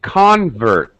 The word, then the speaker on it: convert: listen to my stress the stress changes in a noun this the first uh syllable the first vowel sound will have stress higher pitch maybe even stretched a little bit maybe even a little louder as a noun a convert as a verb to